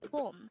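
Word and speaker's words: 봄: season is home again it's boom this is pronounced as one syllable word pronounce how do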